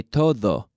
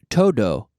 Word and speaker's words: todo: Like you say, todo. This is why foreigners like me, and I still do it, not this bad, but I still say, guiris will always say todo. Do, because we're pronouncing the D the English way.